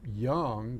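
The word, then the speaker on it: Jung: be an intuitive feeling now young one of the great psychologists which is spelled j-u-n-g for those who don't know uh talked about this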